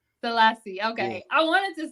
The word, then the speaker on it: Sellassie: I be getting names wrong how do you pronounce the last name salassi salassi okay I wanted to say that salasi okay it's all love don't worry about it